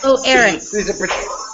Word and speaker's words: Erich: The H is silent. Erich.